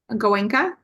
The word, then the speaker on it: Goenka: How do you That pronounce was that? Goenka.